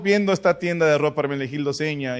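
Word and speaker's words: Hermenegildo Zegna: tienda que se llama Hermenegildo Seña. Se escribe Segna, pero se pronuncia seña. De entrada, Hermenegildo va sin H.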